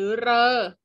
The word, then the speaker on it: ฤ: วัน นี้ เพราะ ตัว รึ ที่ เรา เห็น นะ คะ บน slide ค่ะ ที่ อ่าน ออก เสียง ได้ 3 เสียง คือ ริ ฤ หรือ เรอ ไม่ ใช่ คำ ของ ไทย